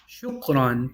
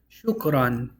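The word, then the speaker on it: شُكْرًا: Shukran. Thank you. Shukran. You pronounce it shukran.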